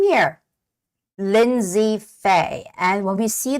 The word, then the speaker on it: Lindsay: see a name here Lindsay Fay and when we see this word the name Lindsay some might read this as Lind say right linday but actually the word is Lindsay the name is Lindsay and Lindsay Fay and